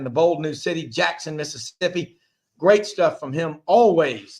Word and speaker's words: Mississippi: course super talk and this is how you say it if you're from the south so the rest of the country needs to listen to what I'm saying it's not Mississippi it's Mississippi super talk Mississippi that's